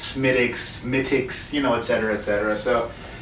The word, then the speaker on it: Smithwick's: So here we go today, finally, Smithwick's.